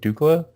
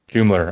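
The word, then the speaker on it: Doumler: I'm not sure how to pronounce his last name. Is it Dukla? Doomler? Doomler.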